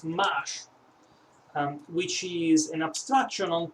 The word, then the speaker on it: M4sh: it's not actually m4 but it is m4sh pronounced mash which is an abstraction on top of m4